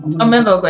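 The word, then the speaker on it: Omelogor: interesting actually was how, even though, was it Omologo? How do you pronounce the name? Omologo, exactly.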